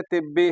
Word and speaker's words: तिब्बी: रखना उसका उच्चारण में, देखो याद रखिएगा, तिब है वो, तिब, तिब से तिब्बी है, डॉक्टरी डिपार्टमेंट, चिकित्सक डिपार्टमेंट, तिब्बी है वो, तिब्बी। ऐसे पढ़ने के लिए तशदीद नहीं तो तभी तिबी कुछ भी पढ़ सकती